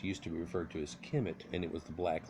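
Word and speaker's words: Kemet: refer to the homeland ischemic eventually pronounced Kim it according to dr.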